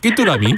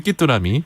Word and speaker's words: 귀뚜라미: 그 안동 발음은 끼뚜람입니까? 네. 끼뚜라미. 안동에서는 끼뚜라미.